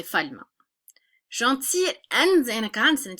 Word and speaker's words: gentil: It's you just pretend that maybe that gentil, you never pronounce the L. So I like to think it's a sound, that it sounds so much like a vowel that we're going to treat it as a vowel and just take